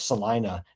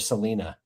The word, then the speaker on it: Salina: big old argument with Profit about how you pronounce Salina instead of Selena.